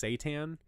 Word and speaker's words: seitan: for cooking it's either a product called it's pronounced seitan but it's accepted Satan into my body when I was a child well what what seitan is is it's basically wheat gluten that you